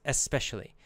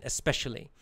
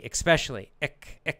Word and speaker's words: especially: It's pronounced E-S, especially. That's the dictionary pronunciation, especially. There's no K or X sound in there.